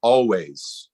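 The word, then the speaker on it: Alvvays: the album's called Blue rev the band's called always but it's spelled a-l-v-v instead of w okay I'll check it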